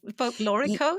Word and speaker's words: folklorico: Folklorico. Am I pronouncing that correctly?